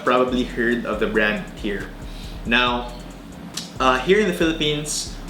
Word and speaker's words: TYR: The brand is pronounced TYR after the Norse god of war.